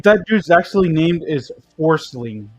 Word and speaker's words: Forsling: I can't believe that dude's actually named is Forcing. Like, what the heck? It's Forsley. Nope. But it's spelled Forsling.